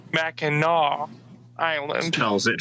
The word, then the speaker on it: Mackinac: back yes i have in a call called mackinaw island tells it phonetically in all caps i look at the